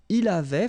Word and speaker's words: il avait: Il avait, final T not pronounced.